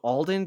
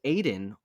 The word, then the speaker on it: Alden: Some people just they have a name that gets mispronounced and it bothers them, and it's like so Alden gets his name said as Aiden all the time.